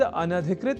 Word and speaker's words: अनधिकृत: पर हम जब न या अन और अधिकृत इन दो शब्दों से मिलकर बने अनधिकृत शब्द के अपने संप्रत्यय को दृढ़ कर लें तो संभवतः भूल से भी इस शब्द के उच्चारण और लेखन में अशुद्धि नहीं होगी। तो यह शब्द अनधिकृत इस रूप में ही है। सर्वथा शुद्ध।